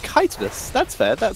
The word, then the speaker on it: chitinous: I am being informed that it's apparently pronounced chitinous.